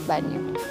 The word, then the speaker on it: bagno: Kasi sa resibo bag banyo eh bagno ganon pero I think it's pronounce as banyo.